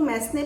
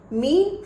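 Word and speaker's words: mesne: मीन profits, जिसको कुछ लोग मैसने प्रॉफिट्स भी कहते हैं, लेकिन इसका सही वर्ड प्रोनाउंसिएशन मीन प्रॉफिट है।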